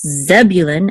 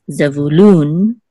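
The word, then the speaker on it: זְבוּלֻן: Issachar instead of Yissachar, and in English it's Zebulun, accent on the first syllable, but in Hebrew it's Zebulun, accent on the last syllable, and also with Benjamin,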